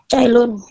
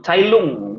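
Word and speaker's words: Cai Lun: Cailun. Cailun. Ya. Searching-nya dapat nih. Keren. Jadi Cailun, Cailung, bacanya tuh Cailung kalau enggak salah Cailung ya. Tulisannya Cailun. Jadi dibacanya Cailung.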